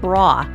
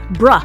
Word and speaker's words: bruh: It sounded like you said bra, like bra. What holds my boobs up. No, bruh. Wow. John, You got to say it like this. You got to say bruh.